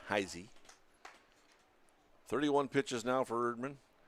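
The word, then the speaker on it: Heise: say taton heisy heisy spells his name HEI SE pronounced heisy 31 pitches now for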